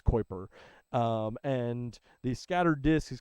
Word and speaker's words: Kuiper: The Kuiper Belt is what Pluto is in, and if you're wondering how you say it, it's Kuiper.